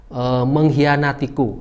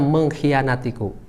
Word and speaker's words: mengkhianatiku: salah dalam penulisannya contohnya menghianatiku Nah menghianatiku itu seharusnya ditulisnya Hai harus antara G dan hanya itu harus ada Kak Jadi dibacanya mengkhianatiku yang kedua kata disini